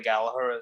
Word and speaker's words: Gallagher: to know who Rory Gallagher is. But Gallagher, I should say. That's how you pronounce your name as well, correct? Yeah, it's an Irish name, and the second G is silent. So Gallagher.